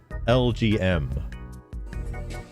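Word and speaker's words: Elgyem: So, it is pronounced like the letters like LGM, BM.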